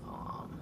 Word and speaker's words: Om: Well, the word is Om, but to actually pronounce it is Om. So when you're actually taking that deep breath in and you start to sound out that sound, it hits that point where it sounds like Om, right?